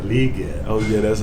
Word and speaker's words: Legette: I thought he said Legette. Oh yeah, that's how I tell everybody just to hold it. Make sure you say it with 2 E's.